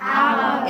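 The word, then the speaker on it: hour: अब देखिए आवर पढ़ क्या रहे हैं हम? आवर। एक्साइलेंट एच साइलेंट इसको हिंदी में कैसे लिखा जाता है?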